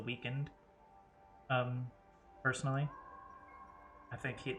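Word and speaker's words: The Weeknd: the weekend on purpose I think it's actually supposed to be pronounced the weekend um personally I think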